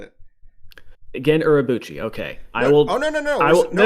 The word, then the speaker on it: Gen Urabuchi: Yeah, we should just say Gen Urabuchi's name wrong every time we say it. Gen Urabuchi, okay.